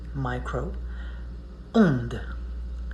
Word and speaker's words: micro-onde: It goes in two words, micro, onde. Onde is French for wave. So micro, onde. That's why it's very important to do those pronunciation.